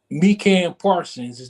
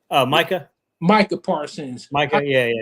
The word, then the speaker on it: Micah Parsons: to be thinking is, how can I get Mekan Parsons? That's how you say his name? Parsons? Mekan Parsons? Micah Parsons.